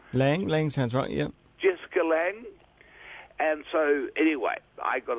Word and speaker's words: Lange: the actor jesse jessica lo how do you pronounce the surname long lan lang lang central yeah jessica lange and so anyway i got a letter from